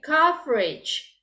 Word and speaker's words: coverage: But remember when you pronounce it, it's a little bit different towards the end. Okay. Covers. Coverage. Okay. Different.